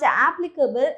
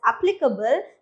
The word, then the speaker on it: applicable: And this is not applicable, it's applicable, that means a relevant to someone.